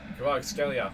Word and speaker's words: Kvaratskhelia: Kvaratskhelia, that's how you say it.